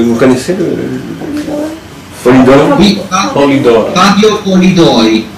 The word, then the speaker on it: Polidori: Oui, Polidori. Fabio Polidori. P-O-L-I, D-O-R-I, comme ça se prononce.